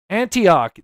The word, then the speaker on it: Antioch: Antioch.